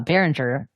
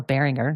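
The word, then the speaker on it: Behringer: was acquired by uh baringer or bearinger depending on how you say it and uh so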